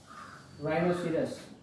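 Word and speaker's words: rhinoceros: राइनोसिरस, राइनोसिरस, राइनोसिरस, ठीक है, H silent रहता है।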